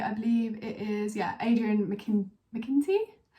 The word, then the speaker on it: McKinty: believe it is, Adrian McKinty? I think that's how you say it. I almost said McKinkey then.